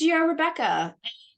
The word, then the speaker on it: Rebekah: It's Rebekah. As the anti-Semitic people will routinely point out for you, it is spelled the biblical way, as in Genesis.